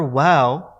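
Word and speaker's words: و: a kasra on it sometimes people might pronounce it with an element of the english letter v and so what they'll say is we the letter well is pronounced as we much more like the english w than it is the english v so make sure that your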